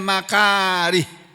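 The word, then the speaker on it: المكاره: Isbahul wudui alal makarih. Ini makari ini misinya ha ya bukan ta ini.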